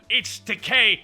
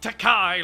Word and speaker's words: Takei: for a roast like George Takei not not takai like saying for the past 40 K it rhymes with toupee oh he practiced that